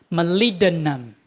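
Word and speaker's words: molybdenum: Malidinum. Malidinum. This B does not pronounce here. B. No sound. Malinum.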